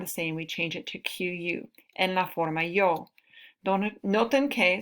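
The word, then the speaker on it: toqué: Entonces, el verbo tocar, la forma yo, no queremos decir tose, no. Okay, no es tose. Entonces, para mantener el sonido, to keep the sound the same, la letra C cambia a QU, toque. So, to keep the sound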